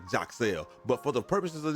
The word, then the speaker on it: Yaxel: let y'all know that the correct pronunciation of his name is more like Jacel. But for the purposes of this video, we're just going to go with Yaxle because that's what more people are familiar with.